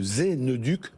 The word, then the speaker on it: Zeneduc: Vous êtes autrice et conférencière, créatrice de Zeneduc. Zen Educ. Exactement. C'est ça. Mais ça s'écrit Z-E-N-E-D-U-C.